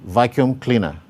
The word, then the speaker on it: vacuum cleaner: Then vacuum cleaner. You can see the primary stress on vacuum and the secondary stress on cleaner.